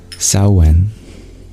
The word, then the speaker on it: Samhain: Magdalene, of this word, Samhain, you share it's pronounced Samhain. Really interesting. I would never have guessed that. Thank you. Samhain.